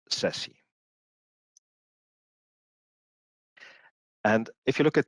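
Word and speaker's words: SASE: so Sashi is Pro s a e is pronounced Sessy it's a it's a term C up by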